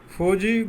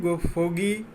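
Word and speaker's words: fogey: फौजी फोगी फौजी दोनों तरीक़ा से इसको उच्चारण करता है।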